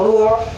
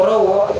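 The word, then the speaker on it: روح: Ang ruh, ito yung tamang pagbigkas, which is yung pagbigay ng revelation sa puso ng Propeta Muhammad SAW. Pero yung raw, ito yung maraming narinig namin sa mga nagkakamali na sa pagbabasa.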